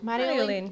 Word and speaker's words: Marjolein: walking down a lane, like Mario. Yeah. Marjolein.